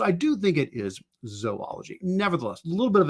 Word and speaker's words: zoology: for a long time, I think I pronounced it zoology, and I'm still kind of debating. Like I hear people say it both ways, zoology and zoology. But when you think about it, I think it's probably should be zoology because it's spelled, Zoology. If it was zoology, I think it'd have to have 3 O's, right? ZOO. And then ology, so zoology, and that's not how it is.